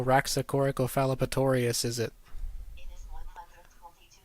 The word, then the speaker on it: Rhasspy: Now I say us at the end, which is this AH, as in hut.